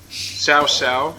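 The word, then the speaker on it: Cao Cao: I don't know who could best the way with the ideal composition of Jean Bay Sao Sao, even though it's spelled cowcow, which uh elevates attack speed by 10%.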